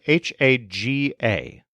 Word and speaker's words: haga: The subjunctive forms of hacer are all based on haga, spelled H-A-G-A. For some of our students, we use a memory palace that involves a pigsty in the backyard, where there are creatures called hogs, but with a silent H.